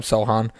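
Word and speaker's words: Sochan: They still have Jakob Poeltl, Jeremy Sohan, right? That's how you say his name, Sohan.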